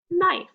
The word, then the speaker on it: knife: A-N, silent K, the word is knife.